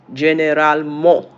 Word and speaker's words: généralement: In French, how is it pronounced? Généralement.